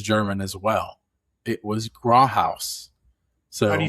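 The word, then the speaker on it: Grauthaus: It was Gro House. So, how do you spell that?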